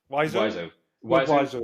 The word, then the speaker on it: Wiseau: How do you pronounce his name? Wiseau.